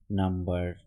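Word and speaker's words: number: আছে সেটা হচ্ছে যেমন নাম্বার মেম্বার কিউকাম্বার এই যে শব্দগুলো এখানে কিন্তু এম এর পরে বি অর্থাৎ বি এর আগে এম তার সত্ত্বেও কিন্তু এখানে বি এর উচ্চারণটা হয়েছে নাম্বার মেম্বার কিউ নাম্বার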